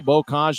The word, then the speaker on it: Bokaj: As Chris Hagan, we believe, pronounces his name correctly, Bokaj, a former third-round pick by the Colorado Avalanche back in 2019.